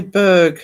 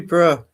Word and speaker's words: Edinburgh: Um, it's like Edinburgh Sarah. Yeah. People often say Berg. It's like we have Bambber here, but it's usually bruh. If it's B U R G H.